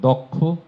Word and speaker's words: দক্ষ: এই দেখেন, একইভাবে সূত্রটি বলে থাকি, যখন কিও থাকবে তার আগে সবগুলো ওকারান্ত হয়ে যাবে। এই যে পক্ষ, এই উচ্চারণ সব ভুল করে থাকেন। দক্ষ, কক্ষ, লক্ষ্য, লক্ষ্য, সব উচ্চারণ আপনারা ভুল করেন।